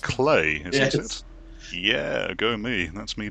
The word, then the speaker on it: Klei: um it's it looks like it should be pronounced cly but it's actually pronounced clay yeah go me that's me doing my research